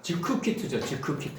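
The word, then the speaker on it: זכוכית: 발음하면 즈쿠키트 발음하면 즈쿠키트인데 요게 이제 명사 여성 단수가 돼요.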